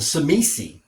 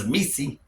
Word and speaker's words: Tzimisce: I am your host, the Water Dog, and today we're going to look at the Tzimisce. That's how I pronounce it anyway. I'm gonna make that T silent because Tzimisce, because pronunciation is not my forte.